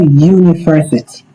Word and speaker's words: university: So, university. U the sound is U. So, U although the word begins with a vowel but this vowel is pronouncing like U sound.